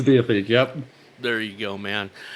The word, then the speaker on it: Diatheke: I think the correct way to do it is like Diatheke, but I wanted three syllables, so it's art. Screw it, I'm pronouncing it differently. So it's Diatheke.